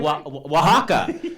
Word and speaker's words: Oaxaca: Oaxaca. And how you spell that word, by the way, is freaky.